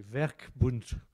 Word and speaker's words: Werkbund: Mais j'ai tellement mal prononcé que tu n'as pas compris. C'est très vexant, Dorothée. C'est Werkbund.